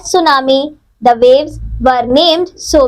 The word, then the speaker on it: tsunami: as tsunami fat file tsunami is a Japanese word which means Harbor waves it is pronounced as tsunami the waves were named